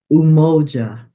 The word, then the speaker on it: umoja: very first principle is umoja and I know that down through the years the pronunciation you hear people say that you you MOA but it's Moa and it's to strive